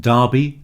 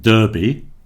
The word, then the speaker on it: derby: The first thing to notice is that it's pronounced derby to rhyme with Barbie, not derby, as in the Kentucky Derby in America.